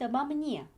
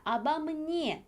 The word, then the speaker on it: обо мне: 있기 때문에 앞에 전치사, 얘는 알파벳 O가 두 개나 있음에도 불구하고 전부 다 아로 발음을 하셔야 합니다. Он говорит обо мне.